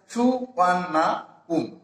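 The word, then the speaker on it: Suvarnabhumi: The name সুবর্ণভূমি, এই সুবর্ণভূমি যে নামটি ইজ প্রোনাউন্সড অ্যাজ সুবর্ণাপুম, সুবর্ণাপুম, অর্থাৎ এটিরই অন্য একটি নাম বা এটা থেকেই এই নামকরণটা হয়েছে।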